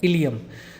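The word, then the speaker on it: ileum: और third part है इलियम। Spelling से कंफ्यूज मत होना, ये कैपिटल आई और स्मॉल एल है और EUM, इलियम। ड्यूडेनम, जेजुनम और इलियम, इसको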